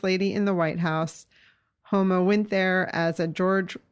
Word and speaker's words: Huma: who don't know and many people pronounce her name huma but it's actually homa which i've learned by